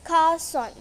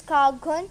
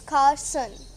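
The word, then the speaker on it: garçon: So we pronounced it Carson. You must be thinking it's Cargon. No, it's Carson.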